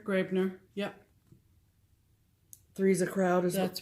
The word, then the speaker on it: Graebner: Graebner? Graebner.